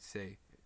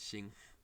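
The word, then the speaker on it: 性: In Japanese it's read sei. In Chinese, Xing.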